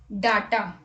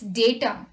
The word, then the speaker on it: data: Now again, many people pronounce it as data. But it's not data, it's data.